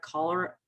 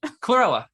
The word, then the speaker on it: Chlorella: I think some people do cholera. No, I was gonna say cholera, the infectious disease. I'm saying it wrong. The little green, Chlorella.